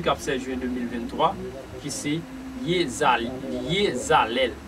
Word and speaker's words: Iezalel: Sans plus tarder, n'a pas entré dans le dernier génie pour mardi 16 juin, mardi 16 juin 2023, qui c'est Yezalel qui s'écrit I-E-Z-A-L-E-L Lycéon Chérubin.